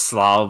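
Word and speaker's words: Slough: 1932 in SLO England it's pronounced SLO but yeah it is it is it is written like that SLO SLO game over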